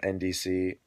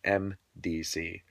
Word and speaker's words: MDC: It's by a guy by the name of NDC. Excuse me, MDC. I think I didn't pronounce that correctly. It sounded like I said N, but it's MDC.